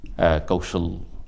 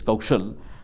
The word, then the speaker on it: Kaushal: And Kaushal in Hindi, this stands for Ka Uki Matra Sa La. This is how we pronounce this Kaushal.